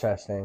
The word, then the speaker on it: Chastain: Ross Chastain.